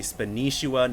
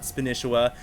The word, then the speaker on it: Spanishiwa: been pronouncing it wrong it is actually spua not spisha and you guys are